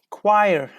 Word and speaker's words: choir: Which word, which letter isn't pronounced in choir? Like number 10. Number 10, choir. The same, they say. Choir. Yes, it is the same. Yes, thank you. It's the same, Julia. H is not pronounced here.